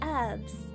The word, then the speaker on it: herbs: Herbs. If it's got an H in front of it, you say the H sound.